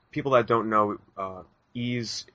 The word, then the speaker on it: Ys: that don't know uh ease is spelled Ys and it's an action